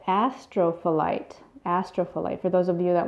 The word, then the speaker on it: Astrophyllite: Let me see if I can pronounce this. It's called Astrophyllite. Astrophyllite.